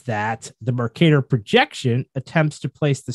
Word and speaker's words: Mercator: The reason for this is that familiar, and I may be butchering this word, Mercator map projection. Is that how you say it, Jamie? Do you know? Mercator? Mercator map? Yeah, I see it. Okay. Yeah, whatever you think. Okay, we're going to go with Mercator.